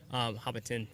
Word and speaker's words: Hobbiton: Hobbiton, right? I think that's how you pronounce it.